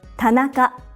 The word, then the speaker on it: Tanaka: a common Japanese surname Tanaka TAA it's made up of three syllables ta na each syllable consists of one consonant and one vowel another common surname in